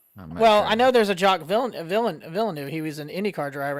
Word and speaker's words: Jacques Villeneuve: I want to see if you can pronounce that name. What is it? Hillbilly just sent. Is it French? It's Jacques Villeneuve.